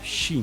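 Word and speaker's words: し: noite pois em japonês uma das formas de falar o número quatro yon tem a pronúncia igual a ideograma de morte que é xim é tipo o número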